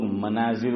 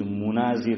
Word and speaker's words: مناظر: علیہ سے سنا کہ لوگ اس کا تلفظ غلط کرتے ہیں. لوگ مناظر بولتے ہیں، ماں پر میم پر کیا بولتے ہیں؟ پڑھتے ہیں فتحہ زبر. فرمایا کہ صحیح تلفظ مناظر ہے، میم پر کیا ہے؟ ضمہ ہے، پیش ہے.